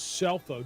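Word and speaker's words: Scelfo: ends coach it is cell phone josepho is spelled s-c-e-l-f-o C is silent it is self-like in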